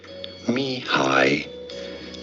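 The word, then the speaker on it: Mihály: We are looking at how to pronounce this name, the name of this Hungarian-American psychologist. How do you say it? Mihaly Csikszentmihalyi.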